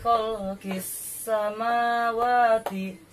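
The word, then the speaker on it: خلق السماوات: idgham samsiah yaitu sya, cara membacanya yaitu kof langsung dimasukkan ke huruf sa. Jadi bacanya seperti ini. Fi khalqis samawati. Jadi kis samawati, alif lamnya enggak usah dibaca.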